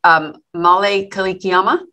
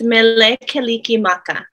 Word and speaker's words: Mele Kalikimaka: And I actually should say, and I might say this wrong, so correct me, but is it male kalikiama? It's mele kalikimaka.